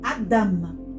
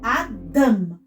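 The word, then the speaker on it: אדם: Vamos, então, colocar como uma sílaba tônica, onde o Kametz aparece. Então, eu vou falar mais forte o da aqui do que o a. Então, Adam. Adam.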